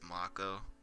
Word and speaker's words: Mako: Uh, I used to say Mako. It is Mako, and then Aries.